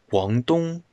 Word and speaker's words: Guangdong: They asked the locals how to say the name, and the locals said, Guangdong.